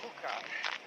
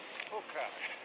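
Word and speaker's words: Júcar: mouth of the river Hookah. J U C A R pronounced like the caterpillars pipe in Alice in Wonderland. Hooker.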